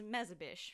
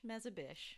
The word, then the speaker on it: Mezebish: of your last name last name is mezzabish make a wish mezzabish excellent fantastic right i love